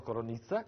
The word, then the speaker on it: Coronica: La Malvasia, ci saranno anche 2 fortissimi produttori di Malvasia, il più famoso che è Moreno Coronizza, che si scrive Coronica, che ha la Gran